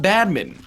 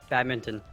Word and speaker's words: badminton: Just say bad mitten. It's not bad mitten. It's not Spinx either, but it's better. Fox, how do you say it? Badminton.